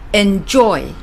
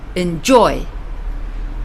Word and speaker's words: enjoy: There are times when the second syllable gets the stress. For example, enjoy. It's not enjoy, but enjoy.